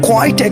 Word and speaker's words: quite: जैसे कि अगर मैं कहता हूँ I have quite experience in English, तो वो quite है.